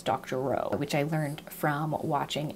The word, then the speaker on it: Doctorow: Jen Wang I think I've been saying his name Corey Dr Rao and I believe his actual pronunciation is Dr Rowe which I learned from